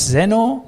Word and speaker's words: Zenoh: is Zeno is solving how is it pronounced it's Zeno Zeno Zeno okay okay great